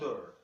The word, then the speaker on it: her: Outro exemplo do H que desaparece. I told her.